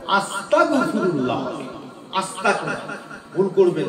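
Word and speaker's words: أستغفر الله: তাহলে আপনার উচ্চারণটা কি হবে? আস্তাগ আজ শয়ত এক গ। আস্তাগফিরুল্লাহ হবে।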